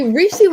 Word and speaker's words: Reishi: One of our viewers wants to know how you spell that. It is REISIH. REISI. Oh, REISHI. Oh, okay. Right? Oh, Reishi? yeah. Reishi, Reishi.